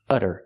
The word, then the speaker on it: udder: this one's spelled differently it has a double D and we do the same pronunciation the fast D sound utter utter this is a noun